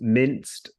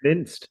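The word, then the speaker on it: MNIST: Rod Prada is suggesting Mi how this is pronounced minced m n and it absolutely training data for a neural network for OCR so yeah I thought it was optical character recognition is it minced is that correct absolutely yeah this is correct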